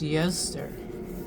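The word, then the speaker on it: Ēostre: You pronounce this Yoster. Yoster.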